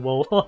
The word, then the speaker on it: Wo Long: I keep saying Wulong. I think it's actually Wolong if I pronounce it correctly.